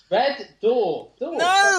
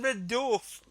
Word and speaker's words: Red Dwarf: what's it called red DF no you don't pronounce the W it's Dwarf Red Red Door he's still not got it he's still not